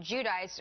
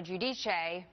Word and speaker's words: Giudice: Their names are Teresa and Joe Giudice, or Giudice. Their last name has changed of pronunciation over the last few years as their fame has changed as well.